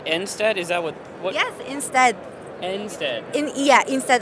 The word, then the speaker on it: enstead: Yes, enstead. Instead. Like, it pronounces the same as instead.